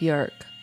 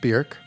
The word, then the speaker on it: Björk: Her name is Björk. Even though it's spelled like Bjork, and sometimes I say Björk. It's Björk. It's pronounced Björk.